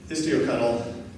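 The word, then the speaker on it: istioctl: So Istio Cuddle, I'm going to go with the Cuddle pronunciation like Kelsey Hightower does for kubectl.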